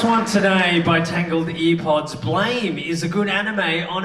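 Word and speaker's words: BLAME!: Blame is a good anime on its own.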